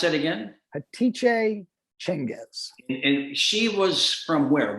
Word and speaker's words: Hatice Cengiz: Hatice Cengiz. Would you pronounce that again? Hatice Cengiz.